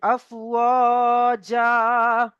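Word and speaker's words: أفواجا: ইয়াদখুলুনা ফি দীনিল্লাহি আফওয়াজা, আফওয়াজা, হামজা ফা জবর আফ, হামজা ফা জবর আফ, ওয়াজা, ওয়াও আলিফ জবর ওয়া, এখানে ওয়াও মাদ, এখানে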